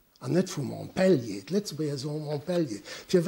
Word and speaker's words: Montpellier: Die Deutsch, am Deutschen haben wir ja die Betonung auf der ersten Silbe, am Französen auf der letzten.